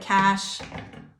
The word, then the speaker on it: cache: Pronounced like cash, like cold hard cash.